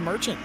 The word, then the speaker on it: Merchant: it's oh my God it's pronounced Merchant I believe it's Merchant it's hard to tell they were kind of